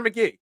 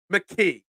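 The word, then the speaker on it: McKee: people calling for Tanner McGee mcke I don't want to get in trouble I said McGee it was a mistake it was a slip of the tongue don't call out my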